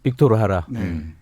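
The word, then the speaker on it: Víctor Jara: 빅토르 하라. 이 JARA인데 하라고 읽어야 돼요.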